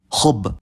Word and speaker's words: حبّ: pattern, like in mudarris, or at the end of some words when the last 2 root letters are the same, like khub.